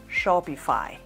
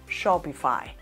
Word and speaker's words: Shopify: Su correcta pronunciación es Shopify, Shopify.